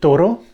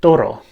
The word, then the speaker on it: Turru: Now, if we add an extra syllable, we get many more words that rhyme with turru, and I have only written 4 here, as you can see.